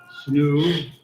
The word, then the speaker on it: SNU: and sponsored by Riad Season, Ring Magazine, GG Vet, SNU, better pronounced as Snoo, and Global Next Trade.